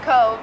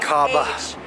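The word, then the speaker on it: Cobh: In fact, right now we're in Cove, pronounced Cove, even though it's a C-O-B-H. Cobba.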